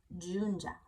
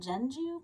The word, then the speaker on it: Junja: Junja. I want to call it Jeju, but it's Junja.